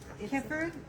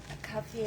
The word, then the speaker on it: kaffir: Say it again. Kefir? Kefir? Yeah. You say it properly now. Kaffir lam. Kaffir.